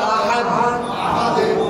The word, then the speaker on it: أحد: আহাদ দ এমন না, কেমন? আহাদ এমন না, আহাদে কিছুটা জেরের কাছাকাছি।